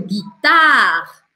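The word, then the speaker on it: guitare: que a gente viu aqui, eu não pronuncio esse E. Então, a sílaba mais forte passa a ser a anterior. Guitar.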